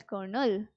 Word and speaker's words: Colonel: the contracted form which can be pronounced in the same way as konel so Colonel is also a rank in Indian army so c o l o n e l kernel okay singular form of